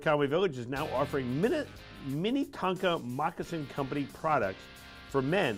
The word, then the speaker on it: Minnetonka: And just to clarify, the way you pronounce that, these aren't little tiny trucks. These aren't mini Tonkas. Oh. These are Minnetonka.